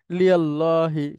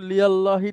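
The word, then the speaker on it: لِلّٰهِ: একসাথে হয় লি এভাবে লিল্লাহি কিন্তু লিল্লাহি টাও উচ্চারণ হয় না এটা হয় লিল লাহি এখানে খাড়া জবর লামের এই তাসদিদের উপরে লিল্লাহি এই কোরআনুল কারীমে আপনারা এভাবে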